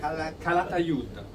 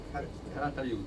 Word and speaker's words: Calatayud: Calatayud. Calatayud.